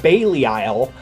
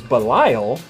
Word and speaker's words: Belial: name this led to them calling him ultraman Bailey Isle and then everyone since then saying the same